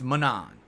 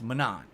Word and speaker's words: Manon: other one is it is it like Ganon or not is it yes it's light Ganon or no it's not like Ganon how do you say the name it's not like Ganon it's Manon gotcha that's what I